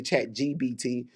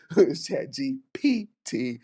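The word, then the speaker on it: ChatGPT: I know a lot of us are using Chat GPT, and some of us can't say it right. Someone say Chat GBT, Chat GPT again, but some of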